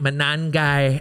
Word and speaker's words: Monangai: At number 29, we have Kyle Monangai, and if you don't have fun saying that, you're not saying it right, Monangai.